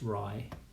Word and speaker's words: Ray: rye rye bridge and it's spelt ray but it's pronounced rye and that's that's really